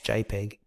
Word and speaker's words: JPEG: change it to the second one jpg pronounce jpeg okay and that should